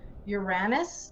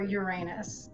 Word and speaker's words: Uranus: were talking today about whether we should say it like the astrologer says it Uranus or Uranus and we had many